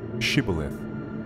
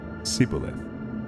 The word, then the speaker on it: Shibboleth: they said to him then say Shibboleth and he said Sibyl if or he could not pronounce it right and they seized him